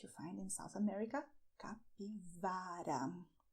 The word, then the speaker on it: capivara: And "CAPIVARA": this is a very nice animal that you find in South America, "CAPIVARA", with the V sound.